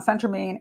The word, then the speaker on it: phentermine: Diet pills, generally speaking, if you get them legally, is called phentermine. I'm sorry, I pronounced that one wrong too. Phentermine.